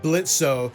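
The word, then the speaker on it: Blitzø: The plot of Helliver Season 1 is that our main character, Blitzo, the O is silent, runs a mercenary company that specifically deals with disgruntled sinners who want revenge on people still living in Earth.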